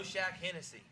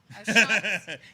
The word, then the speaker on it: O'Shaughnessy: saying Oshak Hennessy. O'Shaughnessy.